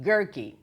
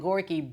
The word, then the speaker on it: Goerke: So here's my man, Dan Goerke. It rhymes with turkey. It doesn't have a U in it though, which is very, very strange. I like to call him Goerke, but it's wrong.